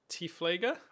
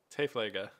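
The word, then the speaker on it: Tiefflieger: It's pronounced more like Typhligger. Oh. Is that because it's German? Interesting. Oh, it is German. Typhligger.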